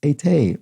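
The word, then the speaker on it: été: for what it's worth the french word for summer is ete with the cute accents so the pronunciation is uh like that not which is what i said i can't believe i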